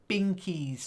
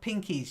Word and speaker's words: Binkies: so herina first word Binkies not pinkies your pinky is the little finger of your hand the pinkies two little fingers Binkies with a B BBB try it okay pinkys